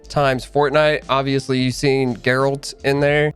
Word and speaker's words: Geralt: fortnite obviously you've seen geralt in there I know a lot of people have been pronounced as the name Gerald or something along those lines it's Gerald not Gerald geralt oh and he's actually